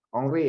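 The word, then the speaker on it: Henri: Raja Ongri ya. Raja Henry yang bacanya Ongri kan.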